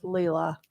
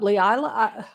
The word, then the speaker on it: Leila: It's 3 syllables.